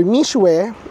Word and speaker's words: Mixue: So if nakita niyo to sa Pilipinas yung or mishwe kasi mishwe yung ano nila e yung yung pronunciation nila.